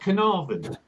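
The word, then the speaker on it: Caernarfon: And that's pronounced Carnarvon. The F is a V.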